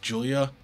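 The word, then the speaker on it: Giulia: ringside the newest NXT sighting pronounced Julia which I have been pronouncing her name wrong for a while she's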